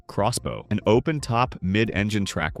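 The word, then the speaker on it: X-Bow: They called it the Expo, pronounced Crossbow, an open top mid-enine track weapon.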